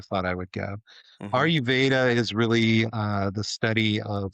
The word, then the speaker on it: Ayurveda: And is it pronounced Ayurveda? Is that how you say it? Ayurvedic or Ayurveda.